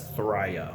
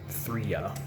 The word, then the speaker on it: Thraya: Usually the first vowel is long in names of Gelfling. So I'm guessing that's Thraya and not Thria.